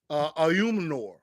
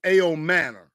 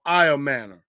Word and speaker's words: Ayomanor: I thought it was Ayumanor, but I think it's Ayomanor. Is how they pronounce his name. I've been listening to a couple of national broadcasts, and they always say either Ayomanor or Iomanor.